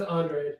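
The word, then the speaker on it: Andrade: pronounce the name guys it is Andre Andre thank you Angie Andre um I'm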